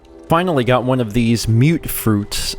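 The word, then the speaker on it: mutfruit: Finally got one of these mute fruits. I had pronounced it mutt fruit. Someone else corrected me, said it's mute fruit.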